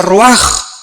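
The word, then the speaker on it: רוח: Aquí se usa otra palabra hebrea, que se escribe ruach, con R de Raúl, A-C-H, se pronuncia ruach. Por ejemplo, cuando hablamos del Espíritu Santo, el Espíritu Santo es ruach, el kadosh.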